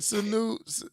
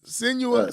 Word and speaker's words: Senua: Suen Senua.